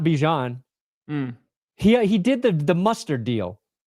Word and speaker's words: Bijan: Bajan. Sorry, I want to look up the clip. I wanted to get his name right. It's Bajan Robinson.